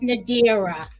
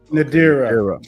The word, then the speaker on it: Nadira: My name is Nadira. It's pronounced Nadira. Nadira.